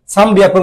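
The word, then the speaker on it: さんびゃく: ক্ষেত্র বিশেষে ম আসে, এই যেখানে একটা মর মতো উচ্চারণ আসে, সামবিয়াকু, সামবিয়াকু। এনের উচ্চারণ বললেও সমস্যা নাই, যদি এনের উচ্চারণও বলেন সমস্যা নাই, সানবিয়াকু।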